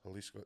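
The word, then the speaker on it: Jalisco: Pronounce them like H's. And they pronounce H's like J's, right? Everything sounds like an H over there. J's, G's. Halisco.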